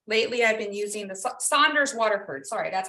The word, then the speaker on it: Saunders Waterford: Yes, today I'm using the Sonderford. How do you say it? Sonderford cold press high white. I also like Arches, but lately I've been using the Saunders Waterford.